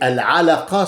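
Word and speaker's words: العلقة: Alors, ahlaka et al-alaqa, ce n'est pas pareil. C'est un truc de prononciation. Al-a, c'est une autre chose. A qui sort de la gorge. A et ah, qui sort de là-dedans des poumons.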